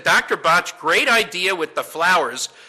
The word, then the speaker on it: Bach: the bach flower remedies it's pronounced botch because he's Welch now I'm not here